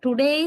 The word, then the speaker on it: today: Of course, they don't emphasize the vowel u, the first vowel sound. We say today. Right? But they never emphasize the first u, the first vowel sound u. Instead, they just reduce the power and the strength of that into schwa, a sound. So they say t, not tu, like Sri Lankans, right?